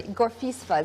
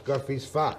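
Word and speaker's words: Gorffwysfa: Gorfisfa is how I pronounce it. Gorfisfa. Yeah. No S. No S. Gorfisfa.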